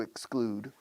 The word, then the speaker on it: exclude: Fácil siempre que pronuncias bien la X. Exclude. No es exclude. Excluir se dice aquí, no excluir. Aquí se dice muchas veces éxito y no éxito. But in English, exclude, include, exclude, exclude.